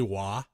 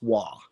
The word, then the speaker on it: Waugh: Did you say Wah? Yes, Waugh. Like W-A-H? No, W-A-U-G-H.